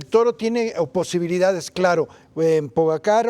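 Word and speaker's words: Pogačar: De hecho, muchos le dicen pogacar, muchos pollachar. Entonces, pogachar, este, en una entrevista que le hicieron a él, a ver, y tú cómo se pronuncia, le dije, dijo él, yo le digo pogachar y así me entiende.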